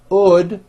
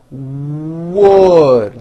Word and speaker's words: wood: W at the beginning I've seen many foreign speakers just drop that W sound the word is not OD without a w it's w your lips need to be tight and forward and you need to push out that W sound wood like that now say this sentence